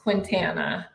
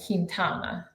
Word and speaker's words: Quintana: that I understood that my last name was not pronounced Quintana um at my wedding it was kintana so kintana yeah kintana I love